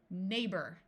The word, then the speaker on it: neighbor: to Royal Authority and in this word GH is going to be silent neighbor notice that o r at the end of a word can sound more like R EI can have some